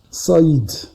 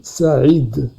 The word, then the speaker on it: Saïd: Vous le lisez Saïd. Alors que normalement, moi je m'appelle Saïd. Saïd avec A.